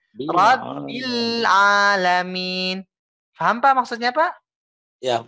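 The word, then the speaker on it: رَبِّ الْعَالَمِينَ: Bilnya tekan dulu Pak ya. Jangan langsung dinaikin. Jangan langsung dioper ke huruf A-nya langsung. Seperti ini contohnya. Rabbil Alamin. Itu kaget. Rabbil Alamin. Itu kaget Pak ya. Tapi harus ditekan bilnya. Disempurnakan. Rabbil Alamin.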